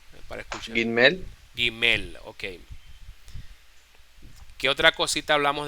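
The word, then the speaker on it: גימל: que vean Ajá adelante Julia una pregunta se pronuncia imil o la gimel gimel gimel gimel gimel aj la letra Es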